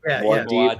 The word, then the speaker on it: Muad'Dib: You get into Paul, how do you say it? Muad'Dib, what the Messiah? Muad'Dib. Muad'Dib, like that.